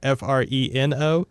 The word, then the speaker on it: Freno: By the way, Friendo in my notes here is spelled F E R E N. Oh, sorry. F R E N O. Fo. Freno.